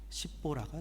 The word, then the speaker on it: 십보라: 십보라가 등장하죠.